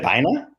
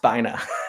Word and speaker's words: Bina: Is it Bina? The first line of the book is it's pronounced Bina, not Bina.